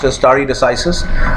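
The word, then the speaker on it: stare decisis: understand or remember is story decisis this is pronounced istari decisis which is the part of a longer latin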